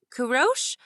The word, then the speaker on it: Kourosh: “‘Kourosh’? What does that mean?” Andi asked once Naveed was gone. looked up from his phone. “My family always calls me that— it’s how you pronounce ‘’ in Persian.